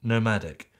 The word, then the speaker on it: Nomvdic: the only thing is their company nomadic is actually spelled like this nvic but it's pronounced nomadic which could lead to